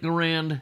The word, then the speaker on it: Garand: by a guy named Garand now there's a lot of argument about this pronunciation I'm calling it Grand if you don't like